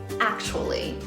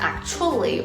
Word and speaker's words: actually: in pitch so it's actually not actually or actually okay so the first level ack ack as in the word apple hat and jacket so app